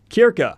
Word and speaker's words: Circe: An adaptation for Circe, or apparently in the original Greek pronunciation, Kirka has been picked up